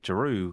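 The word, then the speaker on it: Jaroo: what giroud had um not drew but giroud yeah yeah for anybody the chat um his name is spelt j-a-r-o-o it's not drew like d-r-e-w it's not a real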